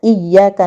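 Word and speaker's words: إِيَّاكَ: nasta'in kita berikhtiar bahwa membacanya agak ditekan tasydidnya iyyaka na'budu wa iyyaka nasta'in kalau tidak ditekan kita mintanya kepada matahari jadinya kepada Engkaulah kami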